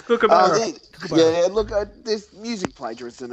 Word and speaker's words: kookaburra: I just love Americans saying kookaburra. It's kookaburra.